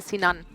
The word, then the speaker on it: Sinan: you're pronouncing it because he turned it into a Turkish name so it's a sinan sinan oh I respect puzle